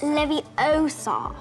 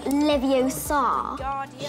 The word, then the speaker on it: Leviosa: of this Sage you're saying it wrong it's Leviosa not Leviosa you doing them if you're so clever go on go on Guardian Leviosa when I think of the sage in terms